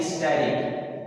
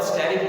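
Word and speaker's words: asterisk: को हम कहते हैं स्टेरिक, ESTERIC, स्टेरिक इसे कहते हैं। तो आमतौर पर ई साइलेंट पढ़ा जाता है और स्टेरिक पढ़ा जाता है।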